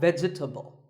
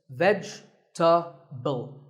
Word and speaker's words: vegetable: a lot is vegetable it's not vegetable if you say it correctly there are only three syllables vegetable vegetable let's talk about